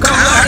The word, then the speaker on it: Kamala: She's used to having her name mispronounced. It's Kamala though, guys. Kamala.